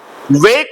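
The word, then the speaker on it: woke: वेक वोक वोकन वे इसको वोके मत पढ़ना डब्लू ओ के ई को वोके नहीं पढ़ना है वोक पढ़ना और उसको वोकेन नहीं पढ़ना है वोकन पढ़ना ठीक है उसको ई हटा देना ई हटा देना पढ़ने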